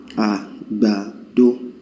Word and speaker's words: agbado: Well, agbado will be, you just go you hum it like that, and that will be do, re, right? There's no me in that, and that's exactly what it is. Do, re, agbado.